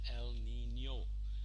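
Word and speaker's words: El Niño: figure it out but you should remember to pronounce it properly as el nino we saw this part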